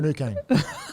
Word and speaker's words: Finucane: Both of them, Rudolph and Funacane. Would you take both of them? Dale Finucane. Funacane? Funacane? How do you pronounce it? Say where you Dale pronounce it. Finucane.